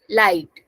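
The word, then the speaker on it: leid: toot Mia light so in light we are having EI I so pronunciation is becoming I light so s toot Mia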